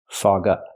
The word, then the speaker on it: fog up: the sounds fog up fog up it's a phrasal verb so you stress both words fog up not fog up but fog up and what does it